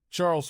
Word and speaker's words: Charles: Charles pronounced the French way.